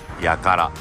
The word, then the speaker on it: 8ct: きました食事処 8 カラット都会でやからと読みますまだ目準備 to